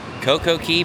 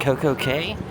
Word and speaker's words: CocoCay: All right, so here we are at Perfect Day at Coco K or Coco Key as it's actually properly pronounced, but has a better marketing ring when you call it Coco K.